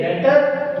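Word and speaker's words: debtor: अब trade receivable दो चीजों का कॉम्बिनेशन होता है, एक डेटर, दूसरा बिल्स रिसीवेबल। इसको डेटर बोलते हैं, डेप्टर नहीं बोलते हैं, बी साइलेंट होता है डेटर।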